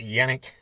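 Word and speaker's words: Janick: And I always say Janik, but is it Yannick? Is that how you say it? I'm not sure. I think it's Yannick. Okay.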